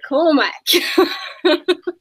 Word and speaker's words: Cormac: Cormac, in live from Canberra. Do I say it right? yeah, you said it right.